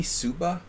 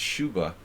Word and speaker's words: Suba: with mihai Shuba Suba it should be Suba in like Romanian but in in Hungarian it would be pronounced Shuba so I never know